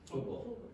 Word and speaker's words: football: Yeah, nobody here pronounced that T. What did you do? Football. Yeah, you stop the air coming out and you produce what is called a glottal stop.